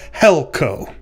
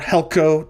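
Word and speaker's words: helkō: syllable of helkuo, and you can see the accent on the first syllable of helko. All right. So we're talking today about the Greek word helkuo or helko, depending upon whether you're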